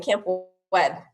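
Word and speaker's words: Campwed: It's like camp in a wedding, camp wed.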